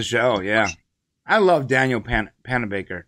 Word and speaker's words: Panabaker: I love Daniel Panabaker. Did I say that right? Yes. Yes, I said it right. I love you, Daniel Panabaker. Pennebaker, but you're close.